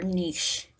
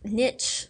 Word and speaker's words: niche: And generalist and specialist species are often defined um by their niche. You may have heard it pronounced niche.